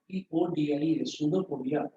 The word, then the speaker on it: pseudopodia: Spelling होता है PSEUDOPODIA, सूडोपोडिया।